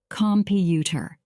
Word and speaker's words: computer: For example, in the word computer, we stress the middle part more, computer.